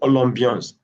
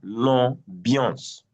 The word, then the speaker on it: l'ambiance: Come to l'ambiance, AM is pronounced as on. IAN is pronounced as un, l'ambiance.